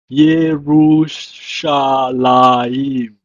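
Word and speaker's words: יְרוּשָׁלַיִם: It's pronounced in Hebrew as Yerushalayim. Yerushalayim.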